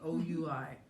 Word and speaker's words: oui: now she's promoting wee, O-U-I.